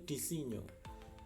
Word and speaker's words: disegno: Ini saya coba cek, ternyata pronunciation yang benar itu disegno.